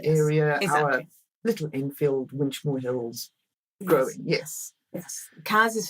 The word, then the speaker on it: Winchmore Hill: So we know it's not Winchmore Hills, it's Winchmore Hill.